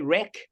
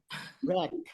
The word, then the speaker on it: rack: Do we say wreck? Rack. Rack. Rack. Rack. Rack. Rack, not wreck.